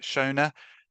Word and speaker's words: Shona: Is it Shona? Uh Sha will unmute you and if you could ask your question. Yeah. Hi. Sorry just unmuted and that was the right pronunciation.